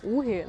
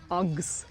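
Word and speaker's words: UGG: Чи знали ви, що Уги насправді вимовляються англійською як акс? Тому це акс.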